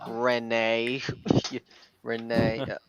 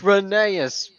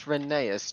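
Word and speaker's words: Rheneas: it's funny how they never said oh hi renee renee it's renaeus how about finaeus oh hello phineas it's renaeus to you was actually pronounced farker we didn't actually know but thanks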